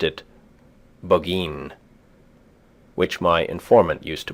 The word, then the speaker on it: Burgoyne: He pronounced it Boggeen, which my informant used to borrow.